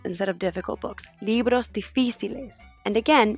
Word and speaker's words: difíciles: Libros difíciles. And again, make sure that you emphasize the syllable with the accent on it.